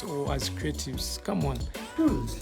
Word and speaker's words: Rulz: Rules, like the normal rules and regulation kind of pronunciation.